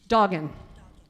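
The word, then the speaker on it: doggen: How do you pronounce D-O-G-G-E-N. Doggin. Doggin.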